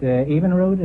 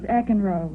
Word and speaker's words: Eckenroad: Evenroad, is that the way you pronounce it? No, it's Eckenroad.